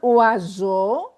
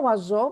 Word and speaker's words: oiseau: J'ai vu un oiseau dans le jardin. Je vous un oiseau dans les jardins. Pourquoi oiseau? Parce que when we have S between two vowels, it's pronounced Z.